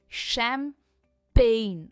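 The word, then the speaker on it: champagne: So this is शम पेन।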